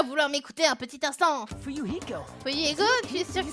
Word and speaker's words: Fuyuhiko: Mon nom de famille est Kuzurio, mon prénom se prononce Fuyuhiko.